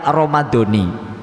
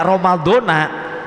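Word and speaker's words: رمضانِ: Jadi hadis sanati ini ya itu mentaukidkan kepada kalimat Ramadhani. Karena muakadnya dibaca jer, maka taukidnya juga dibaca jer. Tapi kalau bacanya Ramadhana, ini para ulama memberikan arti Ramadannya bukan Ramadan tahun ini, Ramadan tahun depan.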